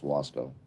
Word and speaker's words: Waco: So it's Wasco. Like Roscoe. The branch divinity.